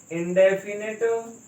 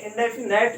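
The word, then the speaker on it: indefinite: Past इंडेफिनिट tense. इसका pronunciation थोड़ा ठीक करिए, इंडेफिनेट नहीं है, दैट इज इंडेफिनिट।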